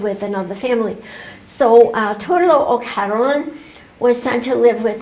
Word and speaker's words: O'Carolan: It's pronounced Torlo O'Carolan, the most famous blind Irish harper.